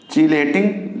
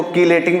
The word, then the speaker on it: chelating: कभी कभी इसको कीलेटिंग भी पढ़ा जाता है, कभी कभी चीलेटिंग भी पढ़ा जाता है ना। कीलेटिंग जो प्रोनाउंसिएशन है वो क्या है? कीलेटिंग। की या चीलेटिंग कह सकते हो, कीलेटिंग कह सकते हो, कायरल कहते हैं या चीलेटिंग कहते हैं।